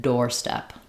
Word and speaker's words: doorstep: So, a red door step.